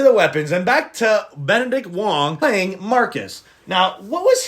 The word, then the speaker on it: Benedict Wong: I have to say um my favorite character of the film of weapons had to be Benedict Juan who played Marcus. Benedict Wong.